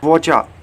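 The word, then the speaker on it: whatcha: Next contraction है वोचा, ठीक है। इसे आप कह सकते हैं वॉच आर यू का आप वोचा।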